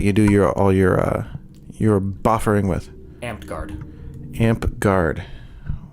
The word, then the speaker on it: Amtgard: Amped Guard.